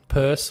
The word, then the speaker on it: Peirce: Yeah, but look, let's talk a bit more about Peirce. Why is it Peirce, by the way, Warren? Peirce?